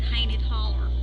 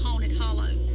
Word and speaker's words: Haunted Hollow: Raised in a place in Georgia called Haunted Holler, which the correct pronunciation would be Haunted Hollow.